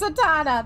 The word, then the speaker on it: Satana: That's Satana. That's my beta reader and fellow Ignis enjoyer of Final Fantasy 15. Oh, that's how it's pronounced. I'm sorry. I pronounce it Satania.